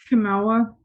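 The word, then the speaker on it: Chemawa: And so, how do you pronounce it? Chimawa.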